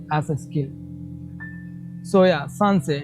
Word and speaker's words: Sancerre: So we call it sancerre.